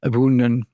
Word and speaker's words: ybounden: this little tour of Adam Le bounden or do I mean abundan you'll find a bunch